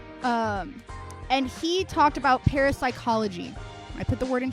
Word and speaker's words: parapsychology: Uh, he talked about parasychology a lot because it was, you know, something to do with the massive games video he was discussing. And he kept calling it parapsychology, pronouncing both P's.